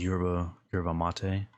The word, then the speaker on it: yerba mate: I don't know how to pronounce it. It's yerba mate.